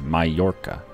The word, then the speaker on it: Mallorca: It's the only thing I know is that when you have two L's in a Spanish word, it's pronounced with a Y sound. So it's Mallorca.